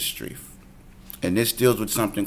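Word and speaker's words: Strieff: up utah vs Strief most strife for hours pronounced st rief utah vs street and this deals with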